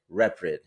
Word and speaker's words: Reprid: And today we're blessed to have another very talented artist, Eric Reprid. Did I pronounce that correctly? Yeah. Oh, perfect. That's perfect. Okay, go. Reprid, but no, Reprid is exactly it.